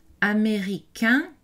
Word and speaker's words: américain: Américain, le N n'est pas prononcé pour le masculin grammatical.